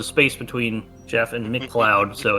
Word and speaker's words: MacLeod: Now, is it pronounced Jeff or Jeff? Oh, the C is silent.